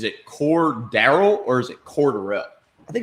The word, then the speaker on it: Cordarrelle: I've always said Cordero. And on the way here, Yeah, I've always they said said Cordarrelle 5 times, and I've been saying his name wrong my entire life.